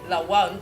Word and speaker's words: Lawal: Yes, and please, anytime you are pronouncing her name, make sure you are articulating it properly, like Lawal. Don't phonetize it, please.